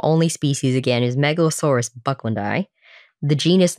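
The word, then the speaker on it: bucklandii: Yeah, it's interesting because I always hear it pronounced Bucklandi, but it's spelled like Bucklandi because there's two I's at the end.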